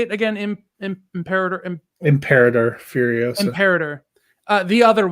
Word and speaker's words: Imperator: Imperator.